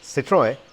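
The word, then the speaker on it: Citroën: to pronounce this name it is citroen back then i used to call it citra so excuse that and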